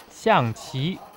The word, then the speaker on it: xiangqi: The second syllable of xiangqi, qi, is the Chinese word for strategy games. The first syllable, xiang, is the word for elephant.